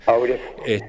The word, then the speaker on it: Aubriot: Aubriot. Y así que lo estamos escuchando dicho de dos formas generalmente, ¿no? Claro, sí, a gusto del consumidor, digamos. Puede ser en español o en el idioma original.